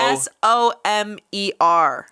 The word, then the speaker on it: Somerville: - It's spelled S-O-M-E-R. - Ah. - Somer. Like somber, like sadness.